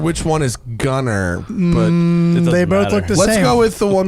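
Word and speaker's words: Gunnar: um from norway but we pronounce it gunner because we're american and it looks it's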